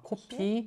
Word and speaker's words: 코피: For me, sometimes it's O and O. Kopi, Ah, 코피, the nose bleeding, and kopi. 코피 and Coffee. coffee. Coffee and Totally coffee is different.